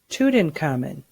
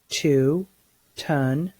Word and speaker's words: Tutankhamun: Tutankhamun. Again, use the syllable segmenting strategy to read this word. Tu-tun-ka-mun. Say the word. Tutankhamun.